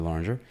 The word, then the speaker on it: Loranger: Without further ado, we have Drew Loranger. That's how you pronounce the name, right? Yeah. Drew Loranger. Yes, sir.